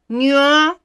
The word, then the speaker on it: nyụọ: Nyụọ mamịrị. Nyụọ mamịrị. The NY is pronounced as nye, nye, nye, nyụọ mamịrị.